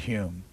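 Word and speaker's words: Home: satire, the then Lord Hume. Or is it Lord Hume? Is that, yeah, that's right. the way you pronounce it's H-O-M-E.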